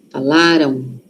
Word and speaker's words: falaram: Aqui a sílaba forte tá no lá. Falaram. Falaram. Aquele M ali. Tem som de o aqui, ó. Falaram. Tem, mas é um O muito suave.